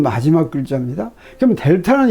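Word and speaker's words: Δ: 그러면 X에 대한 차분 델타 X는 이거 델타 X라고 있는데 세모를 델타라고 읽습니다.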